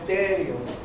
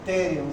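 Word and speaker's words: pterio: ese se llama el terio se llama el terium se escribe así peteri y este otro punto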